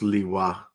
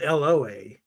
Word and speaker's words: lwa: I'll be DN it's it's pronounced Lewa it's w lwa also called Loa so apparently they're like